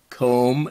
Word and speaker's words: comb: Then we have the MB, spelling at the end, like in thumb, and lamb, comb. You don't hear the B sound, but it's spelled with a B.